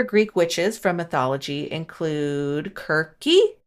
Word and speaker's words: Circe: So some other Greek witches from mythology include Kirke, which is spelled Circe, but not like Game of Thrones. It seems like it should be read Circe, but apparently it is pronounced Kirke. Or it could be Kirke or Kirke. I'm not sure. It's one of those.